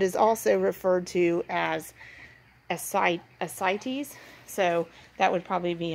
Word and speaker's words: ascites: heart failure that is also referred to as cites so that would probably be a more Veterinary